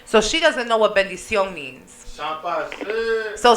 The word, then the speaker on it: bendición: You got the pronunciation right. It's just the levels, right? Bendición.